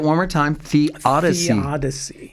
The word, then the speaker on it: theodicy: so say it one more time the odsy The Odyssey spell that for us it is t h EO